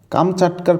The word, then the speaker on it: কামচাটকা: কামচাটকার প্রকৃত উচ্চারণটা আসলে কামচাটকা।